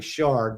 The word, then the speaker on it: Schardt: the yard with Shard because my name is spelled so weird that it's often mispronounced so I yard and Shard rhyme so just to get